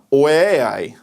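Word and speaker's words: οὐαί: Hebrew is hoy and in the Greek I'm going to butcher the pronunciation of this but it's way I but we see that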